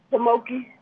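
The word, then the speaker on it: Pamunkey: Pamoki. And where are they located? Virginia. Okay. How do you spell that name?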